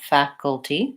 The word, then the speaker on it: faculty: end we also had faculty that's my ah my black cat vowel first syllable stress and short long and short short faculty cool in this case